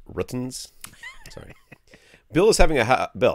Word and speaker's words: Rtings: It's pronounced Ruttons.